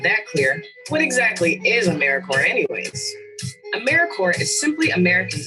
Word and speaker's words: AmeriCorps: make that same mistake americorps is alive and well just spelled with a silent p so think of apple core or horrifier now that we have that clear what exactly is americorps anyways americorps is simply